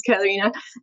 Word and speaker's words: Katarina: So, my name is Karina. We just had a chat about how to pronounce it. Yeah, it's Katarina.